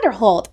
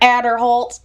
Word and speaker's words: Aderholt: It's not Robert Aderholt. I love when he did. It's Robert Aderholt. It's very much that.